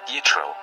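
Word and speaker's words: יִתְרוֹ: His name, in Hebrew, is pronounced Yitro, while in Arabic it is Shoaib.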